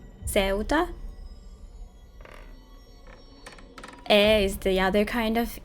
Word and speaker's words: Ceuta: That pronunciation was correct, okay. Ceuta. Ceuta?